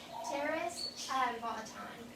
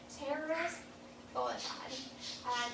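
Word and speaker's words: Pterois volitans: So their scientific name is Pteris volaton. So it does start with a P actually, just like pterodactyl, that P is silent.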